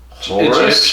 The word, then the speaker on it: Horus: Horus is a god. Horus is an Egyptian god.